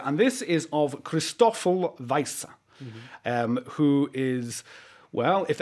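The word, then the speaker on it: Wiese: Am I pronouncing his name right? Yeah. Weisse, yeah.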